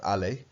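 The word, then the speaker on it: allée: It's still pronounced allé.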